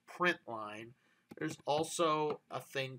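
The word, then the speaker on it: println: sentence in addition to this prynt Ln which we pronounce print line there's also a thing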